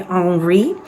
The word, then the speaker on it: Henri: raised in France and they pronounced Henry on wreath so that is how I will say it for the purpose